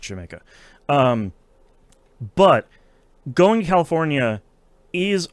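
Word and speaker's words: D'yer Mak'er: Also, it's not pronounced dire maker. They're making fun of Americans. It's pronounced Jamaica.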